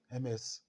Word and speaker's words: Ms: or even if widow, you can use Miss MS to address the person.